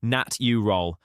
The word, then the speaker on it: natural: The word natural has 3 syllables, nat you roll.